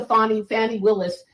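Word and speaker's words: Fani Willis: And we'll get to Fannie Willis, who was elected as a DA in Fulton County. And that's the correct pronunciation.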